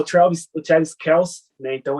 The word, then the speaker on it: Kelce: Que essa semana falou que o nome dele é Kelce, na verdade, né? É assim que se pronuncia. Mas, então, o Travis Kelce, né?